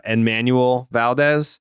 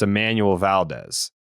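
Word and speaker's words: Enmanuel Valdez: But if you're American, then the N is silent. It's Emmanuel. So I was saying it the Spanish way. You were saying it the American way.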